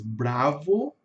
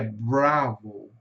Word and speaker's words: Bravo: No inglês, a maioria das palavras são faladas com a célula tônica no começo e vai morrendo, vai diminuindo pro final. Então fica, nós falamos em português, bravo lá é bravo. Bravo.